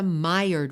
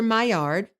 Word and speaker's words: Maillard: This chemical reaction is known as the Mired reaction. And I'm going to spell it for you because it's named after a French chemist named Dr. Maillard, Maillard, Dr. Maillard.